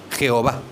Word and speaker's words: Jehová: La otra pronunciación oficial, que es más latina, más latinizada, es Jehová.